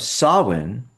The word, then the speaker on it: Samhain: So, the modern holiday of Halloween has its roots in both the Celtic celebration of Samhain and the Christian holiday of All Saints' Day. So, Samhain, which is spelled Samhain, means the end of summer, and